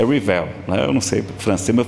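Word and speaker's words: Rivail: Pessoal que é francês diz que a pronúncia certa é Rivel, eu não sei francês, meu francês é lá do Ceará, não sei nada de francês, nada.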